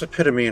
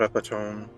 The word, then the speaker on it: epitome: Now, I want to look up every Yeah, it's epitome, not epone.